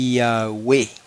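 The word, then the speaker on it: Ιαουε: Y eso se lee, no hay otra manera de leerlo en griego, eso se lee Yahweh. Todas son vocales, Yahweh.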